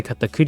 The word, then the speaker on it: Katakuri: Hey, I get to say katakuri even though I'm not playing yellow and pronounce it the correct way.